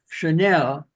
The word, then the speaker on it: Chanel: speak something here um Chanel is spelled as it does in English Channel but Chanel coko is spelled c h Nel and pronounced differently so uh it's just a